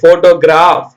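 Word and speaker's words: photograph: sound ஓகேங்களா இப்ப பாப்போம் பிஹெச் போட்டுருந்தா கூட அதை நாம போன்னு சொல்லக்கூடாது போ பிச் போட்டுருந்தா போ இஃப் சவுண்ட்ல பிச் ஓடி ஓ போட்டோ பார்த்திருக்கீங்க தானே இந்த filling okay போட்டோகிராப் போட்டோகிராபர் pitch ஓ டி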